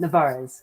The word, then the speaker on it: Nevarez: Nevarez, give us the proper pronunciation. You got it the first time, Nevarez. Nevarez, I like it.